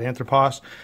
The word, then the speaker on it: Anthropos: of people not know how to pronounce this anthropos is just Greek for man and you say it like that anthropos uh I'm sure Nico if you're watching you can correct my pronunciation down in the comments uh so let